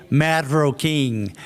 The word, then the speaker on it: Marroquín: Believe me, not many people in the US can pronounce my name correctly because of the R's. So you can show off with people and say Ferrocarril and Marroquín and then show off about the R's.